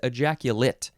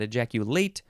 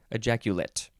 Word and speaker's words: ejaculate: Okay, the second form of this word is pronounced differently. It is ejaculate, not ejaculate, ejaculate.